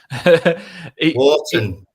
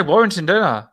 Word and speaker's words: Wharton: name right this time Warrington Wharton I say Warrington you do say Warrington a lot yeah my partner ripped me on it and said you say his name wrong you do know that